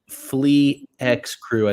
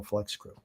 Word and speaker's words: Flex Crew: Flex Crew says, I remember I got his name wrong at first. I said, what? I think you were even on the show when I said Flea X Crew, I think is what you said. And TJ and I both butchered it, actually. I was the only one who got it right.